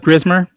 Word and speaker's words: Grismer: platforms, just straight up Grismer, Grismer. And on social medias, same thing, Grismer, except you add two R's at the end of it. Grismer. You know, you want to roll your R.